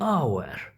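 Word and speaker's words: hour: देखें, ऑनर, ऑनर, H silent है, आ की आवाज़ है, आ ई ऊ, ये 3 साउंड हों तो वो वावल साउंड होता है। और इसी तरह ये हावर नहीं होता है, ये आवर होता है, आ ई ऊ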